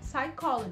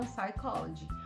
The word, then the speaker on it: psychology: Em inglês, por exemplo, psicologia é psychology, porque o P é mudo e a gente nem fala, certo? Então, psychology, tá vendo?